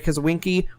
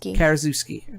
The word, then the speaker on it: Karaszewski: Marlos Forman, Scott Alexandria, and Larry Kazawinski won the Golden Globe for Best Director and Best Screenplay, respectively.